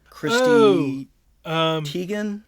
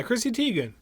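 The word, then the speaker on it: Chrissy Teigen: But the bottle's name, I'm not going to pronounce her last name right. It's John Legend's wife, Christy Teigen. Yeah, Christy Teigen. Please feel free to Google sometime Christy Teigen.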